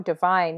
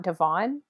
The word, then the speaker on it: Divine: Yeah, Oh, Divine, not Devon.